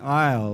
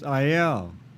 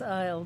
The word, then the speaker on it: Iyall: your name right um i was raised with the pronunciation aisle like walked down the aisle it's a native american